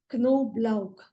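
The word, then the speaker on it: Knoblauch: is carot garlic is canob BL that K you have to pronounce that K KOB BL Ginger it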